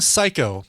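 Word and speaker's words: Sycco: an artist but she goes by the name psycho and it's spelled s-y-c-c-o why you may ask well it's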